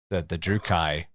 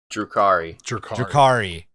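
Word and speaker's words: Drukhari: There's something, it's smaller, and the not the Dothraki, that's the Drukai. The Durakai? How do you say Dark Eldar? Drukari.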